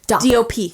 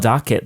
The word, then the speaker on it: dop: D-O-P. DOP. It's a DOP. I always call it doc kit, DOC. Oh, I think it's DOP. What's the correct word? It's called a DOP kit.